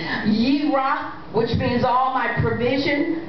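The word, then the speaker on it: Yireh: these people pronounce it Jirah, but there's no J sound in the Hebrew language, so it would be a Y sound. Yirah, which means all my provision and my provider.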